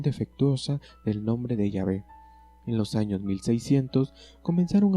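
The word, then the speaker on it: Yahvé: están de acuerdo que la manera original y primitiva de pronunciar el nombre de dios debía haber sido llave y no jehová llave es una forma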